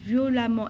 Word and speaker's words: violemment: Pourquoi je prononce violemment et pas violemment? Parce que j'ai E2M-ENT, comme on l'a fait la fois passée. E2M-ENT, ça prononce amant.